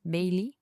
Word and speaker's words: Baillie: C'est B A I L I E. By Bailey. Bailey. Ouais, je dire Bailey.